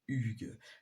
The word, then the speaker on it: Hugues: Parce que Hugues, ça commence pas par U, mais quand on l'écrit, mais quand on le dit, ça fait Hugues.